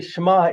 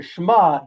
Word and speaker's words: Shema: changes the word entirely now it's no longer shma here oh Israel the Lord of God the Lord is one but Shema it could be pronounced Shema if an an an olive is there which means perhaps changes